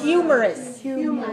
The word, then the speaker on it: humorous: word is that humorous humorous many syllables are there in Cuba humorous three good syllable stress code humorous one right three one humorous so is that a